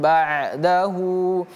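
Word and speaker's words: بعده: Huyunya panjang dua harakat. Lihat ada ee dhammah ekornya ke atas seperti ini. Seperti ini dia. Maka dia kita baca panjang hu dua harakat. Tapi kalau dia ekornya ke bawah maka ini pendek tidak perlu kita panjangkan. Kalau karena di sini ekornya ke atas kita panjangkan.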